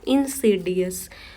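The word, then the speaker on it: insidious: इंसीडियस। अगर हम किसी भी वर्ड की प्रोनाउंसिएशन सही करने लगते हैं ना, तो आधी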